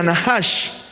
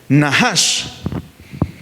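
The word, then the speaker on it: נָחָשׁ: Moisés hace la serpiente que en hebreo se escribe o se pronuncia nahash. Esa es es así se escribe o se pronuncia en hebreo la palabra serpiente o víbora, nahash.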